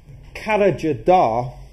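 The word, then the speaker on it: Karacadağ: at a place called carriger da and that's not the way that it's spelt that's the way that it's actually pronounced which is a mountain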